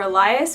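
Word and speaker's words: Ellia: We thought that if her name was E-L-I-A, it would seem more like her name was pronounced Elia, which isn't the name that we wanted.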